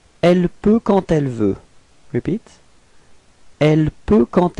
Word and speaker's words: quand elle: Okay, so let's see where the liaison goes, and it goes between quand and elle. Okay, and here the D would be pronounced a bit more like a T. Okay, quand elle, quand elle.